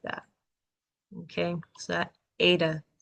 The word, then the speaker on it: eta: Eta. Eta is another like E sort of sound. It's a long A though, which is fun.